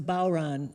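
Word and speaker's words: bodhrán: the name of that thing again it's a bauran and it's spelled differently it's spelled b-o-d-h-r-a-n but pronounced okay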